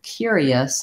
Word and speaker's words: curious: about in the word curious how the r um is pronounced so we have as I said this hidden ya sound and that's the sound that we often spell with letter Y in American English and